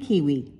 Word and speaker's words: kiwi: Take the New Zealand kiwi, whose name rhymes with peewee.